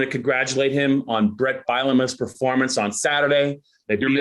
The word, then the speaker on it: Bielema: I want to congratulate him on Brett Bielema's performance on Saturday. They beat up Nebraska Cornhuskers. You're mispronouncing his name again. You're mispronouncing his name. It's Bielema, damn it.